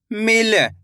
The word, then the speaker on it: मिल: ऐसे नहीं पढ़ना आपको, मील। अगर आप मील पढ़ोगे तो इस तरीके से बड़ी ई की मात्रा का उच्चारण हो जाएगा। यहाँ पे बड़ी ई की मात्रा लगी हुई है तो खींच के पढ़ा जाएगा मील। यहाँ पे छोटी ई की मात्रा है तो कम खींच के पढ़ेंगे मील।